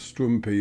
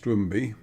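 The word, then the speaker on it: Stroumbi: Because Cypriots seem to pronounce a written P as B a lot of the time, which is why what you might think of as Strumpy is pronounced Strumby, etc.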